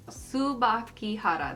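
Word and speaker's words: Tsubakihara: came prepared trying to figure out how to pronounce it. Subakihara, there we go.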